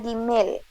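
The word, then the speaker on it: גימל: que vean Ajá adelante Julia una pregunta se pronuncia imil o la gimel gimel gimel gimel gimel aj la letra Es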